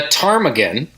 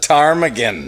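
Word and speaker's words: ptarmigan: been hanging around 103.7 the tarmigan the tarm again yeah if that p is silent like pneumonia um and it's in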